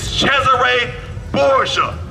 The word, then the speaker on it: Cesare Borgia: white man that lived his name is cesare Borgia that's how they say his name over there in Italy that's a real man